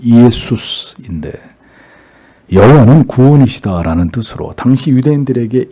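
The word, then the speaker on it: Ἰησοῦς: 예수, 정확한 발음은 예수스인데 여호와는 구원이시다라는 뜻으로 당시 유대인들에게 이 이름은 굉장히 흔한 이름이었습니다.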